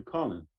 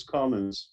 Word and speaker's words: Collins: Is it Collins with an S or Colin? No S or no Collins S? with an S. Mm-hmm. Because that's how you spell it. Most people call you Colin. Let's make a correction, everybody. He's Collins. Okay, that's what I thought.